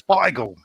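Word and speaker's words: Beigel: people here yeah but bagel was like where the americans took the word and couldn't say it properly so you know where it's bygle there we go there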